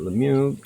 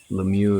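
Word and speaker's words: Lemiux: way and pronounce it Lemieux. So, I'm going to say it's Lemir if you're an American and Lemieux if you want to throw a little bit of French at it.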